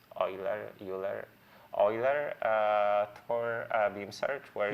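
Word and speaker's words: Euler: different name for that but Rafiel called it uler uh oil how do you pronounce oiler uler oiler uh for beam search where you where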